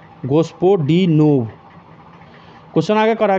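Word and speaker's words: Господинов: तो जॉर्जी गोस्टपोडिनोव। नाम भी ऐसा है ना, प्रोनाउंसिएशन करने में भी दिक्कत हो जाता है। गोस्पोडिनोव।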